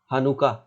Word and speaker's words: Hanukkah: And here is Hanukkah. Listen its pronunciation.